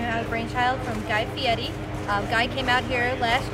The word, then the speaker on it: Fieri: Guy, is it Fieri? How does he pronounce his last name? Fieri, you have to roll the R, or he gets very upset.